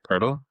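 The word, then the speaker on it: Pöltl: How do you pronounce it? Purle. Yeah, Purle.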